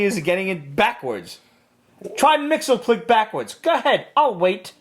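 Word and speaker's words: Mxyzptlk: Mixelplick. Mrs. Pitlick. Don't try to pronounce every fucking consonant. It's all consonants.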